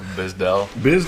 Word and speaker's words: Bizdell: I'm Bizdell. Say that last name again. I've been saying it wrong all year. Bizdell.